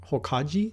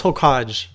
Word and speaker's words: Hokage: used to go around saying Hokage the wrong way and I would tell people like I would say the hole cut oh god I can't even say it wrong anymore oh god yeah Hokage okay it was hole qoj I tried to say like French and people just made